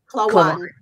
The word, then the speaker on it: Klawonn: Klawonn. My Philadelphia accent coming into play, Klawonn.